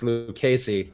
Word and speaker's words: Lucchesi: It's a strong K, so it's Lucchesi. But yeah, there we go. So I'll take the L on that one. It's not Lucchesi.